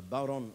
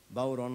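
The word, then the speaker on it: bodhrán: a uh called a bon or a bon or a bon um it's spelled uh b o d r h a n the D is silent like the p in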